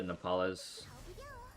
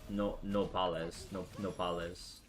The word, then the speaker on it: Nopales: And so one time he ordered the Nepales, and I was like, this is amazing. Nopales. Hold on. I don't think I was pronouncing it right before. I think I was blurring the vowel sounds.